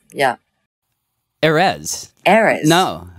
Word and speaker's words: Erez: Erez. Why is this hard? It's because it's so unnatural for English to you know, emphasize the first syllable, I guess. It's, yeah. Erez.